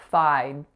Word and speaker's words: fide: So that vowel is an I, and because it's followed by that voiced D, it's going to be a little bit longer than if it had been a T. So pay attention to the length, pay attention to the whole phrase, bona fide.